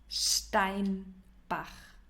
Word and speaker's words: Steinbach: Yeah, the city is pronounced Steinbach.